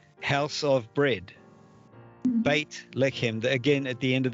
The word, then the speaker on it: Beit Lechem: And then if we think of Bethlehem, in Hebrew, that is Beit Lechem, house of bread. Beit Lechem, again, at the end of that word, it is the tav.